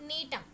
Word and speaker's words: Gnetum: It belongs to the division Gymnosperms, class Neotopsida, order Netales, family Netaceae, and the genus include Neem. Here the G is silent, so it spells as Neem.